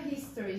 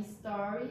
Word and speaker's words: story: vejo muita gente falando history, gente. Não falam history vem da história, né? Se você for falar story, é um fato, né? Enfim, então já fica aí a dica. Começa com S.